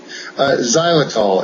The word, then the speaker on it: Xylitol: Xylitol. It's spelled with an X.